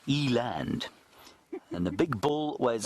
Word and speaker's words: eland: Eland aren't they lovely Eland I suppose is what I should be saying yant is the Africans pronunciation I got shouted at